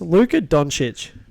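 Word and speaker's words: Luka Dončić: Luka Doncic. That's how you pronounce his name, right?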